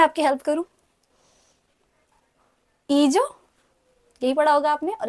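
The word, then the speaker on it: hija: ईजो, यही पढ़ा होगा आपने, और इसको ईजा.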